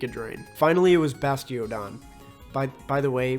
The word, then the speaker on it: Bastiodon: drain finally it was bastiodon by by the way when I was younger I used to pronounce this bastardon why how do how